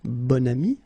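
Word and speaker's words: bon ami: got this adjective okay and then you pronounce it bonami when you make this link second example so same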